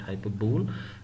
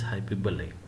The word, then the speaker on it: hyperbole: forward hi to Ballet I have already students pronouncing this word as hyperbole please make sure that this is not hyperbole this is hyperbole what does a what